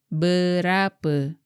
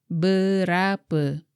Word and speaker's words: berapa: The word is berapa. Berapa. Be careful not to pronounce the letter E as E in the English word man. The proper E pronunciation is like the English word her.